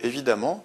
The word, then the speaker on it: évidemment: Troisième exemple, vous y trouverez évidemment toutes les informations. Évidemment se prononce amant, donc on a une terminaison en deux M. Donc évidemment s'écrit E accent aigu VID, E deux M, ENT.